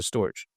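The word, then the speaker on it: Storj: either say scoin or storage right but it's spelled like storage a but some people call it storage but yeah besides that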